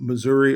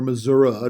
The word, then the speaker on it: Missouri: in the middle of Missouri or Missoura depending on how you want to pronounce it right there on the